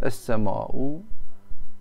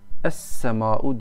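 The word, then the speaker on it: السماء: Yani kelime hazinenizi geliştirmek isterseniz bunları da mesela es-sema'u, es-sema'u diye okunur ama lam yazılır tabi.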